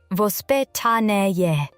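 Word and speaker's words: воспитание: In Russia, parenting has traditionally been influenced by a concept called vospitaniye, pronounced vospitanie.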